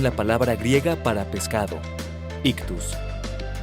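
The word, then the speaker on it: ΙΧΘΥΣ: Esta palabra es también la palabra griega para pescado, ictus, la cual cuando es deletreada en el griego en mayúscula es ixoye, razón por la cual algunos la pronuncian como ixoye.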